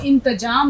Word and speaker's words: انتظام: اب دیکھیے انتظام لفظ آیا تو آپ کو انتظام نہیں لکھنا ہے، انتظام. یہ دیکھیے یہ تلفظ زوئے کی آواز آپ کی ٹھیک ہونی چاہیے، اچارن بالکل صحیح ہونا چاہیے. تو وزیر نے اس لڑکے